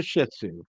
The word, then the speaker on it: Shih Tzu: Beefy is a Shih Tzu, and emphasis on the first part of that syllable.